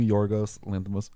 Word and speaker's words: Yorgos Lanthimos: Okay, well, basically, Kinds of Kindness is the new Yorgos Lanthimos.